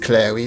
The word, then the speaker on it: Cleary: And I'm assuming it's pronounced Clary because of a children's rhyme that goes, "Are you a witch, or are you a fairy, or are you the wife of Michael Cleary?"